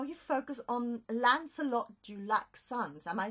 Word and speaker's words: Lancelot du Lac: Well, what fascinates me particularly is how you focus on Lancelot du Lac's sons. Am I saying it correctly? Lancelot du Lac.